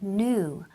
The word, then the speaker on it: knew: The pronunciation is very important. Knew.